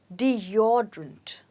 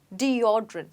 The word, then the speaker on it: deodorant: you say it as deodorant let's say it again deodorant so the stress is on or deodorant okay now let's look at